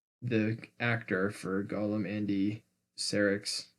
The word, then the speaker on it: Serkis: The actor for Gollum, Andy Serkis. Serkis.